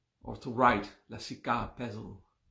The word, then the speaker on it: pezl: I will spell it L-A-S-I-K-A, and the other word pezl, P-E-Z-L. Just that 4 letters. Pezl. It sounds like a Snoop Dogg Siddhi. Fiddle my weasel and wiggle my pezl, you know.